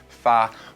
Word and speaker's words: 发: TOFA y'all see TOFA the character per hair in chinese can be pronounced as far which sounds just like the character far in fats hi which means to